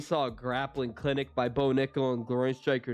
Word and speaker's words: Bo Nickal: All right, I'm gonna pronounce his name right. Some people got mad at me for mispronouncing his name. I went off what I heard him pronounced by Fitzgerald and Laura Sanko on the Contender Series, but I'll admit I was wrong.